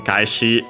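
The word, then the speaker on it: 返し: And yeah, notice the difference between kaeshi on its own, accent on the last mora, but yeah, here the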